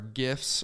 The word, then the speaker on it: GIF: I always call it I call it gif yeah me too I always call it a gif it's a great graphic image file right so I so it's a hard G so I use a